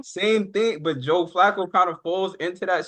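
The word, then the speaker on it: Flacco: more or Joe fox or who Joe Joe FCO I'm saying his name wrong Joe Flo same thing but Joe Flaco kind of falls into that same category of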